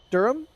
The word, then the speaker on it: Durham: in the uk for jack to try and pronounce all right here we go edinburgh it's very fun game correct durham yeah correct this one i i see this